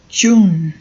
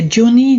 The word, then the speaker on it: June: June. Não é June, não, viu? É June. Não pronuncio o E no final, não.